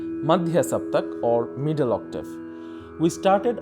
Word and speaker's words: saptak: we call that term saptak in bengali we pronounce shoptuk the term derived from